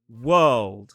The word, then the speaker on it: world: Now, this one's quite interesting because we move from the dark L into a D sound which is actually on the alvola ridge. So, people get a bit confused as to why we do release that sound. Well, it's a different sound we're releasing. We're releasing the D sound.